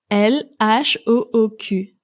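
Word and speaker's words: L.H.O.O.Q.: bas de cette reproduction des lettres qu'il faut prononcer à haute voix pour en comprendre le sens l h ou au cul lhooq je sais pas vous mais moi j'adore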